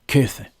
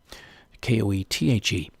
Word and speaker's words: Goethe: John Goethe, Koethe. That's how I would pronounce it in German anyway. Maybe even, Goethe.